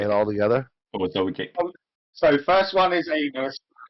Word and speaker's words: Zoldyck: Yeah, but it's actually pronounced Zoldish. It's Uh-huh. so you like over compensate at the end.